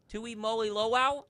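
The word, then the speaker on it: Tuimoloau: Tui Moly Lo.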